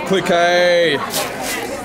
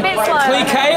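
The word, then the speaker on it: Clicquot: Cliquet or Cliquot? How do you say it, internet? I say Cliquot because that's what he says in the song.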